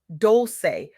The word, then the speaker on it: Dolce: Welcome to the soft girl era podcast hosted by Dolce, pronounced doulce like sweet softness whispered in French.